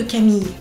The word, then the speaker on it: Camille: On prononce pas le e de Camille.